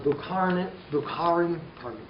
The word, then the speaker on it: Bukharin: On the right, the criticism fell on Bukharin, that's how you say it, who supported Lenin's